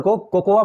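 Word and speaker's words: cocoa: चॉकलेट powder को कोकोआ powder भी बोलते हैं, बट कोकोआ पाउडर, कोकोआ कोई वर्ड ही नहीं होता है, वर्ड होता है कोको, तो हम पढ़ेंगे कोको पाउडर।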